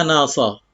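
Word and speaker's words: نصب: nasabin berupa nasab bi fathin nun, nunnya di fathah, na, wal muhmalah, muhmalah artinya sad, as-sad al-muhmalah, karena kalau ad-dad al-mu'jamah artinya ada titiknya, al-muhmalah tidak ada titiknya, dan sadnya juga di fathah, jadi bacanya nasab, min nasab.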